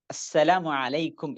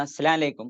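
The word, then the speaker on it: السلام عليكم: സലാമുമായി ബന്ധപ്പെട്ട് നമ്മൾ ശ്രദ്ധിക്കേണ്ട രണ്ടാമത്തെ കാര്യം, സലാം പറയുമ്പോൾ അതിന്റെ ഉച്ചാരണം അസ്സലാമു അലൈക്കും എന്നുള്ളതാണ്. കുട്ടികൾ വളരെ പെട്ടെന്ന് അസ്സലാം അലൈക്കും, അസ്സലാം അലൈക്കും എന്ന് പറയുന്ന ഒരു ശൈലി പലപ്പോഴും തെറ്റിപ്പോകാറുണ്ട്. അത് നമ്മൾ എന്ത് ചെയ്യണം?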